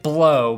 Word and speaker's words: Blough: Lions had to start David blough pronounced David blow by me and anyone who cares